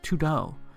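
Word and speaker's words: 土豆: means to-do list because in Chinese potato is pronunciated as tudo which translates to to-do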